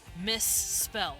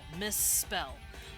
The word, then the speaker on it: misspell: it sounds fine but if you put miss in front of it because you misspelled something you can hear that i'm pronouncing the s a bit more see spell spell or then miss spell miss spell i'm holding that s out just a bit longer some languages just straight